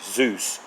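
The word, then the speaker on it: Dzus: with the Zeus Fasteners pronounced with a z but spelled with a d Zeus to remove them we use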